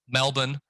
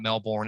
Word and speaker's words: Melbourne: a frankfurt in germany melbourne for you guys that are an australian uh we've learned the hardware that's not melbourne it's melbourne the r is silent um don't say it